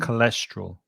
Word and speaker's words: cholesterol: careful of that word as well because there's a ch at the beginning, but the sound is k, so it's Hmm. cholesterol. Cholesterol.